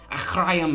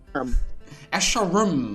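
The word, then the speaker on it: Escharum: Achrayum, Echorchoyum, Ashayar, Asharum. That sounds a little... It's Asharum, my friends.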